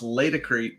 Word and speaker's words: Laticrete: But I do believe it's pronounced Laticrete.